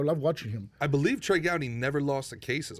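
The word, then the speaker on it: Trey Gowdy: Here's here's We were interviewing uh uh Ted Growy. Ted Gouty or Gouty? Uh Trey Gouty. Trey Gouty. Trey Gouty.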